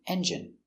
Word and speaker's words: engine: Stress on the first syllable.